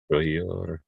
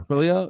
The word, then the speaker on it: Trujillo: Trujillo. Yeah. Trujillo.